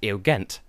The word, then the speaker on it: Eugent: Nugent Bush pepper hello the test and editing here I've just found out that his name is actually pronounced ill ghent nazi a gent her I thought I knew